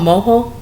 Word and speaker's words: mojo: you can find it it's called moho it's spelled mojo m-o-j-o and it's from this